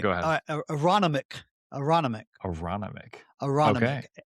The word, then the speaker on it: Aronimink: Aronimink. Okay. Aronimink.